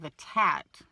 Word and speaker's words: Atat: Hope has pictures of a man by the name of Atat, A-T-A-T, Atat, I guess is how you pronounce it.